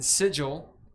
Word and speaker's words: Sigil: anyway uh they are staking their claim in sigil because that's how it's pronounced and wondering the planes getting into misadventures